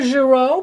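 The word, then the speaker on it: Girault: figures these small people these are zero pastels we spell it G I are a ult they're from France they're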